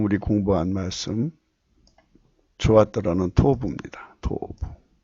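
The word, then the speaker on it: טוב: 이게 토부입니다. 토부. 발음도 역시 토부인데요.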